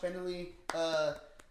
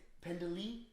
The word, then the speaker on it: Pendley: Anston Kelly and Josh Pendley. Damn. You put so much emphasis on the second E. Pendley? Yeah. Why not? And There's- you're adding an extra E as well.